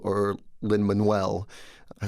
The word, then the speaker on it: Lin-Manuel: Lin at school because I couldn't take a lin-manuel or linman well I said Lin Lin is fine and then Ling man waited